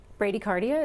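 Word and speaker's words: bradycardia: has a question is Brady cardia Brady cardia is that how you say it yes is that considered heart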